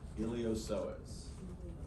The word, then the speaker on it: Iliopsoas: Iliopsoas. Okay. P is silent. But it's there, so don't forget it in the spelling, right?